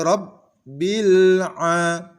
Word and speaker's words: رب العالمين: Sering sekali kaum muslimin memantulkan huruf lam sukun. Ini adalah contoh yang keliru. Atau pada huruf berikutnya. Rabbil. Huruf lam bukan termasuk huruf qalqalah yang tidak boleh dipantulkan ketika membacanya. Contoh yang benar adalah Alhamdulillahi Rabbil Alamin, tanpa memantulkan huruf lam.